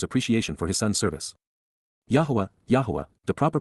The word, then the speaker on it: Yahweh: of his father's appreciation for his son's service Yahweh Yahweh the proper pronunciation of the name of eloah God has